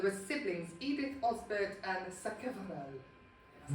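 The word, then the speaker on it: Sacheverell: Um there were siblings Edith Osbbert and Sakal, that's how it's pronounced.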